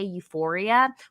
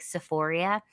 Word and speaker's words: Euphoria: are the funny thing is that they can't even pronounce it right. They meant to say Euphoria, which they Oh, definitely should they said not be that.